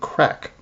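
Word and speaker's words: craic: But it actually comes from the Irish word crack uh spelled like crack. C r a i c.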